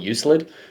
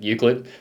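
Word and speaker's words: Euclid: Like I didn't know how to pronounce Uklid when I first heard it. I used to call it Uclid until the boys corrected me, but Uklid.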